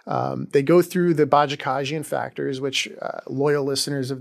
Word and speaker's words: Bajakajian: I'll provide really quick I think that was very good pronunciation uh of that case bajakajian bajakan took me years to figure that out not not my first